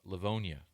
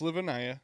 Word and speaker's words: Livonia: pronunciation I've been trying to work on my pronunciation of Michigan cities uh Leonia Leonia Leonia yes I got it okay I'd